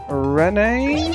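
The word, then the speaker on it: Renne: now so our group is going to be Rene to R oh hold on she said her name then here we go leave it to Ren leave it to Ren okay so it's pronounced Ren it's nice to have somebody speaking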